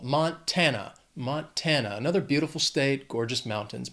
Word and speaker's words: Montana: 3 syllables, stress is on that 2nd syllable. Montana.